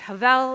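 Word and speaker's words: הֶבֶל: looking at today is Havel you will see in one of the quotes it's sometimes spelled that b with a V because it's the soft pronunciation there's also the doubled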